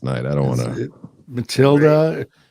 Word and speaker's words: Matilda: Matilda rhymes with Broomhilda, which is Wendy's alias over there.